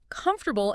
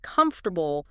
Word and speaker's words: comfortable: I remember a student who always stressed the wrong syllable in comfortable instead of comfortable.